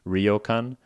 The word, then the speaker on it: ryokan: Uh or maybe like a guest house, maybe like a traditional Japanese rian is how you say in Japanese.